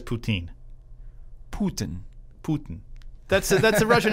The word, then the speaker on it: Putin: I like it how you pronounce his name like it's a Canadian dish Putin. with cheese curds and gravy on it. I've heard it different ways on Putin.